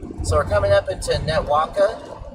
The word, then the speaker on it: Netawaka: So, we're coming up into Netwaka. Netawaka, I believe is how it's pronounced.